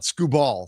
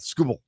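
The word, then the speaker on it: Skubal: Am I saying it right finally? Scooble. Not Scooball. Scooble.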